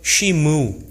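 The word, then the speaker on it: שִׁמְעוּ: 여기서 여호수아의 말에 쓰인 들으라, 이 말은 히브리어로 쉬무 이렇게 발음합니다.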